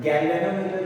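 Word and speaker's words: galvanometer: गैल्वेनोमीटर जो हम कहते हैं वो गाल्वानोमीटर टाइप में लिखा जाता है, स्पेलिंग गलती नहीं करना स्पेलिंग।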